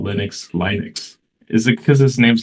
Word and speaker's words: Linux: Linux would be the English pronunciation, but Linus's language, mother tongue is Swedish. He's Finn, but he's from the Swedish-speaking minority. Crazy.